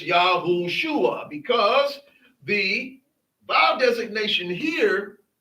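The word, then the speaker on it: יהושע: it has these letters, the way it is pronounced is not Yahusha. It is Yahushua because the vow designation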